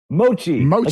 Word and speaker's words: mochi: Mochi.